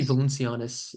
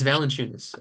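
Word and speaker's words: Valančiūnas: I think yonas uh I always mispronounce his last name some say I say valencianas yeah it's it's valent chunis uh Yas valunas I think he's a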